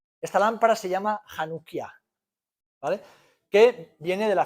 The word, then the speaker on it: Hanukkah: Y es la lámpara de 9 brazos, y aunque veis una C chiquitita y una H, se pronuncia J. Esta lámpara se llama Hanukkah, ¿vale?